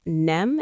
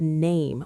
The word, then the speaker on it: name: Some people say it like nem instead of name with the long A sound.